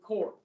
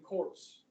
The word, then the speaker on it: corps: hint hi civilian conservation corps yeah you do not p is silent so is the s for that matter marine you don't say marine corpse right or peace corps